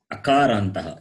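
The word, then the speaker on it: अकारान्तः: Akarantaha. Akarantaha. Akarantaha. Pullingaha. Nara shabdaha. Yes. See, akarantaha. If you say akarantaha, the meaning is different. Short, not akaran, not akaranta, akaranta. A is short.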